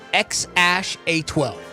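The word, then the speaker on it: X Æ A-12: way it is here it's pronounced X Ash a12 didn't they change it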